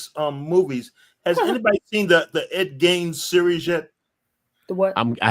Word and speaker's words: Ed Gein: So that's how you pronounce his name, Ed Gein.